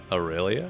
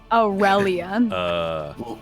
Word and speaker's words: Aurelia: Aurelia. Luscious you, and you say Aurelia. rail. You say Rel. rail instead of rel.